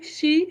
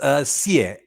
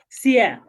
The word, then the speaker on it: Xie: Is it she? How do I pronounce it? Yeah, it's Sear. Sia.